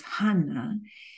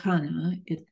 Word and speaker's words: Hannah: the same name as Hannah. In Greek, there's no strong H pronunciation, and so all those from Hebrew get lost.